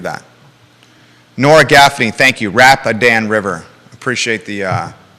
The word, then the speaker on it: Rapidan: Rapidan River. Appreciate the pronunciation.